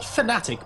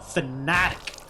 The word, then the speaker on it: Fnatic: And his in-game tag conveniently is phonetically exactly how you should be pronouncing his team name. Not Fnatic, but Fnatic.